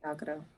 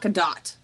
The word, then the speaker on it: Gal Gadot: Gal Gadot. What is? She's Israeli. No, it's You're Gadot. right. It's Gadot. Yeah, you Pretty say sure it's Gadot. no. You pronounce the T.